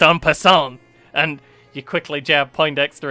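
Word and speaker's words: en passant: you know all about the end pissant move it's pronounced on person and you quickly jab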